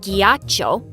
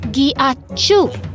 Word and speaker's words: ghiaccio: No, it's not ghiaccio. It's pronounced ghiacciu.